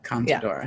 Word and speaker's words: Contadora: I don't actually know how to pronounce it. Contadora? Yeah, Contadora.